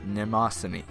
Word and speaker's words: Mnemosyne: Oh, and the pronunciation is Mnemosyne. The M is silent.